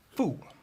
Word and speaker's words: 富: load of random sounds fool now you can hear the way I pronounce start with a sort of sharp downward intonation it's the fourth tone in Chinese and the character fool